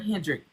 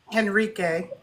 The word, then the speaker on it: Henrique: Her name is Hendendrick. I said it right. Henrique.